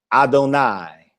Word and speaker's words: Adonai: Av, Adonai. Remember that Patak that follows the Yod? It gives that AI sound. I, Adonai.